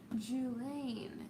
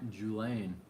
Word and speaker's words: Julaine: Julaine is how you say my name. Huh. Julaine.